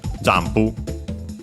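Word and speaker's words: ジャンプ: Then we have the noun modified by it, which is jampu. As a reminder, again, the n is actually pronounced as m because there's the following pu, and so p, a bilabial consonant.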